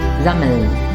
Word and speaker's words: sammeln: We have sammeln, sammeln. Remember, the mm should not be pronounced twice. Instead, the vowel a should be short.